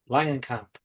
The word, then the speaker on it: Langenkamp: Langenkamp Yeah, thank you.